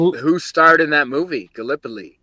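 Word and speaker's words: Gallipoli: Galipoly. And we pronounce it Galipo. Galipo.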